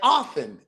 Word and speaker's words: often: Just like the T in often, it's silent.